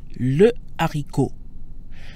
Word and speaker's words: haricot: So here we have the word haricot, which means bean. It's masculine singular and starts with an aspirated H. So how would you say the bean? You are on a roll. Le haricot. Just as we say le téléphone or le livre, haricot takes the masculine singular le.